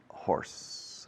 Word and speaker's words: hoarse: I'm hoarse. A little bit hoarse. Se escribe oarse con A intercalada, H al principio. Horse. Have you ever been hoarse?